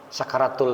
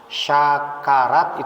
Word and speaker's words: sakarat: Sakarat itu bahasa Arab yang penulisannya adalah huruf sin, sakaro, pakai tak marbutoh, jadi sakaratun gitu. Kalau bacanya sya, harus jelas juga bacanya. Syakarat itu beda arti.